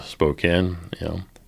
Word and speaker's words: Spokane: KGC says we got to go to Spokane.